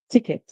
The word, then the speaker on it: ticket: However, if you're using the American English, you hear ticket, ticket. If you're using the British English, you hear ticket, ticket. So in the British English, the E is pronounced as a short I sound.